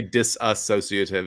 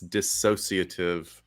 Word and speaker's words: dissociative: me being picky it's the term is dissociative say it all together everybody don't say disassociative it's dissociative identity disorder and so we've got to you know leave out that extra symbol symbol syllable sorry so i guess